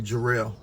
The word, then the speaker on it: Gerald: The pronunciation of my name is actually Jerel.